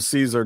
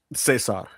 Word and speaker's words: Cesar: He's playing the exact same part, but they call him Caesar Don. That's right. Yeah. Cesar. Sorry. I have to say it correctly or Tony will get mad at me.